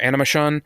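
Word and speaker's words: Animashaun: Shaun our Animus Shaun looks like his name is almost like spelled like animation I did it does look like that that's something I found an interview with him and he it's he says it like an emotion or something like that that's a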